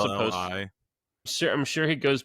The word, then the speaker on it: Maccelli: Spell it. Yeah. No, that's how it's supposed. Maccelli. Sure, I'm sure he goes by Maselli because it's North Michelli.